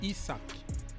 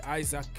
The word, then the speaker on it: Isak: amiron Gordon and Ice isak people keep on telling me don't say Isaac or whatever isach that's how it's pronounced ISAC isak right so they have a